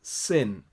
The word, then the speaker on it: Shin: Shin, for example, can also be pronounced as sin.